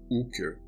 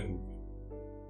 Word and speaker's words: Hooker: O Sr. Brooker pronunciava esse nome sem o H e esticando o U. Hooker.